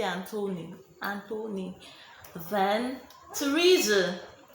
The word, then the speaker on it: Theresa: Then Theresa, the TH in Theresa sounds T.